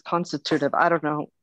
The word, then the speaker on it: constitutive: nice word too yeah i pronounced it wrong i think i think it's constitutive well i just had it pronounced on my phone yeah it says constitutive i don't know right